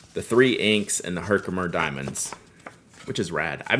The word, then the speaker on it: Herkimer: So, tell me the pronunciation of this again. I can look at it. Herkimer. Herkimer.